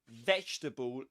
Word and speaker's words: vegetable: And the same applies to vegetable. You don't pronounce this letter.